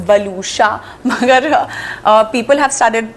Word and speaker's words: Waluscha: My name is also not very easy to pronounce, बलूशा, मगर people have started you know knowing how to pronounce the name.